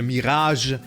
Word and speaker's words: mirage: mirage here we're seeing or a mirage if we want to pronounce it in the French way because this probably or that is a word that is originated in uh the French language and we see saber